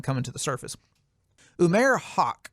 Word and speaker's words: Haq: Umair Haq, I prefer to pronounce his last name as Hack.